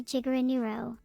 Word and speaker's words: Jiguro: My superhero name would be Jiguro, pronounced like a gigabyte.